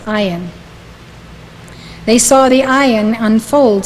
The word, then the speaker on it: ayin: that's spelled a y n but it is pronounced iron they saw the iron unfold step by step